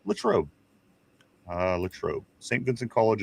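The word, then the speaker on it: Latrobe: Uh it's Latro.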